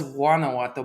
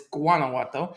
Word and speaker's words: Guanajuato: You pronounce it with G. It's the G. I always thought it was Guanajuato, but it's Guanajuato.